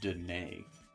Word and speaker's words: Danae: Or more like Danae. Neigh, like a horse.